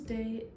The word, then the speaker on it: Day: My name is Day. I spell that D-A-Y, like daytime, and then.